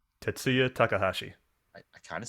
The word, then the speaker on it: Tetsuya Takahashi: monster ideas so other notable design designers including tetsuo takanashi did i say right tetsuya takahashi i kind of said it right all right